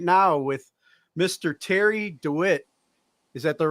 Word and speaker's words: DeWit: to bring you right now with mr terry dewitt is that the right pronunciation yeah man i've been called worse now